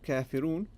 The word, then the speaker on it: كافرون: The long vowel, wow. We don't say kafirun. We say kafirun. Oon.